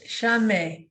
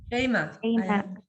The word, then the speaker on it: Shema: And is that Shame? How do you say your name? Shame? Shema. Shema.